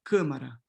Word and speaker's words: câmara: And so in Spanish, you have A, in Portuguese, you have And so cámara, cámara, this M here that is in the following syllable is closing this A to câmara, câmara, câmara, lámina, lâmina,